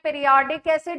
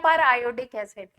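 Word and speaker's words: periodic acid: एसिड होता है HiO4, उसको बोलते हैं पीरियोडिक एसिड या पर आयोडिक एसिड, दोनों तरीके से प्रोनाउंस करते हैं उसको।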